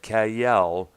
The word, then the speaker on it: Kael: Um, Pauline Kael, like it's spelled Kael, was among the few critics who actually liked this movie, calling it a lighthearted, slightly loopy adventure film.